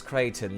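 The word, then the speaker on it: Creighton: I am aware that the way that I pronounce Crichton sounds very similar to the word Crichton, like a crétin, like the French word, like crétin.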